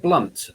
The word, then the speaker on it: Blount: Oh, Jeb Blunt. Jeb Blunt. So it's Jeb, Jeb, and his surname is BL. It's spelt Blount, I think.